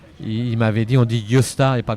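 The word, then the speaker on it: Gösta: La légende de Yosta Berling. Yta s'appelait Gosta ça s'écrit. Je prononce à la Suédoise parce que j'avais un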